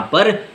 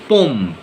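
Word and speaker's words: pomme: word को pronounce करोगे when you want to pronounce apple in French you have to से पम म पम पम यू कैन नॉट से पो यू हैव टू से पम because here there is no nasal sound पम मींस एप्पल ओके सो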